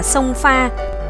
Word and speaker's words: Krông Pha: Đèo Ngoạn Mục hay còn gọi là đèo Krông Pha, một địa danh của người Chăm hiện vẫn còn, người Việt đọc là Sông Pha, còn người Pháp thì